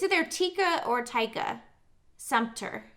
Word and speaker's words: Sumpter: there tika or tyka Sumpter so I know it's like Center okay remember in ride-along